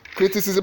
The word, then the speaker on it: criticism: C criticism then the criticism the answer is criticism has his stress on the four sy so